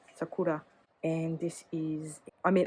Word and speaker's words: Sakura: I think the accent's on the second syllable, Sakura.